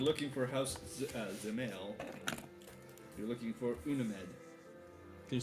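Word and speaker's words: Dzemael: l d z yeah the d is mostly silent it's like xml gotcha i'm sorry what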